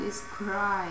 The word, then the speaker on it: describe: 这个单词要 this word describe 这个要 describe. 可能要 describe. describe。哎呀，OK， I think I made a mistake。我们来看一看啊，这单词的读音，这是描述的意思。